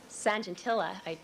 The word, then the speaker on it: Sajantila: An individual in Holland by the name of Sajantila, I believe that's how you pronounce the name, S-A-J-A-N-T-I-L-A, published some articles on the technique visualizing D1S80 and also on the PCR technique.